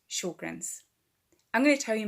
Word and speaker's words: Sjogren's: the beginning which is confusing but it is pronounced Sjogren's I'm going to tell you my story I've